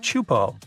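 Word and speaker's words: Teahupoʻo: It's pronounced chupo, and it means broken skulls in Tahesian.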